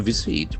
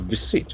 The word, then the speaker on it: visit: Iran finance minister To visit v i s i t. This word can act as verb as well as a noun. Visit. Visit. That z sound is very prominent.